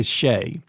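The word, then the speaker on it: Skjei: could throw that in they they kept pronouncing the guy Shay um and um I guess I really ought to ask him like my dad said um you could spell your last name ABC and then pronounce it mule and that's how you're supposed it's supposed to be pronounced so uh I guess um I guess the announcers would know so so sh so Brady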